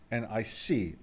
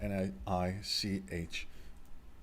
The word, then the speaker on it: Nicolas: His name is Nicolas, not Niich.